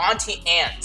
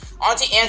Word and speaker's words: Auntie Anne's: uh or auntie or auntie ants sorry i think i've been saying it wrong auntie anne's is a pretzel place